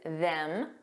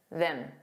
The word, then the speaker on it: them: Because there's a strong pronunciation which is them. But there's also a weak and unstressed pronunciation. them them. So it's just that vowel sound that sounds more relaxed and unstressed.